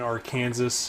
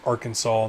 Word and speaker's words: Arkansas: later tonight here in our Kansas and it's not how you technically pronounce Arkansas but I just like being a a unique one but it's Arkansas not or Kansas um and we can